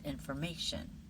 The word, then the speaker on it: information: The next one, information information The natural pronunciation is information with the may part with the stress.